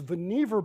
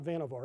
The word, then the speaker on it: Vannevar: these things this is Vannevar bush he always said rhymes with beaver it's not Vannevar as boniva distinguished career as a